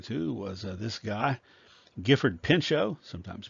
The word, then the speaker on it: Pinchot: The second person that I was referring to was this guy, Gifford Pinchot, sometimes pronounced Pinchot, who was around the same age as Roosevelt, who was from the same part of the country.